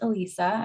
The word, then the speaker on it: Elisa: so much um so my name just so you know is pronounced elisa oh sorry oh that's